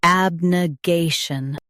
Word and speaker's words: abnegation: Abnegation. Abnegation. Stress gay, keep n soft, and finish with shn cleanly.